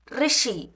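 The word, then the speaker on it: ऋषि: ரிஷி இது வந்து பார்த்தீங்கன்னா RSHI இந்த சவுண்டு தான் வரும். ரிஷி. அந்த யூ சவுண்டும் வராது, ஐ சவுண்டும் வராது. அதனால தான் அந்த ரூனும் ப்ரொனவுன்ஸ் பண்ணுறாங்க, இந்த லெட்டரை ரீனும் ப்ரொனவுன்ஸ் பண்ணுறாங்க. ரிஷி அந்த ர சவுண்டு மட்டும்தான் வரணும். ரிஷி.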